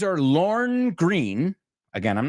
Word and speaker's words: Lorne: Es Lorne, pero no se pronuncia la E.